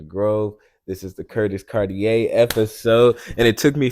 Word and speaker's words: Cartier: I'm like, it's Cartier. It's Cartier. I mean, I don't know what the watch is. I think the watch might be pronounced Cartier, but my name is Cartier. But yeah. Hey, so it's that, with the R though at the end.